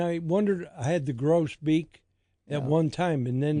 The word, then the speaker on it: grosbeak: What's the pronunciation? Grosbeak.